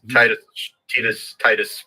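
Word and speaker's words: Tidus: Apparently, it's pronounced Titus, but I don't give a crap.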